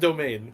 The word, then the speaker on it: demesne: In fact, Demesne is pronounced domain.